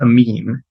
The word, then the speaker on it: Amin: So let me start by saying we're Troutman Amin, because I'm so sorry.